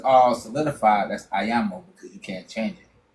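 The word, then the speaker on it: àyànmọ́: And so once it's all solidified, that's ayamo because you can't change it. I a y a n m o I think. Yeah. Ayan. Yeah. The n is like it just let you know there's a syllable there.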